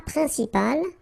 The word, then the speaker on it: principal: Then un plat principal, final T here not pronounced. Un plat principal. En, remember, it's nasal, it goes in your nose. Un principal.